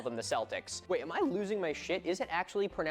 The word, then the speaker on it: Celtic: Celtic with a hard C or K is the standard.